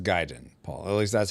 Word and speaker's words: Gaiden: And it's pronounced Gaiden, Paul.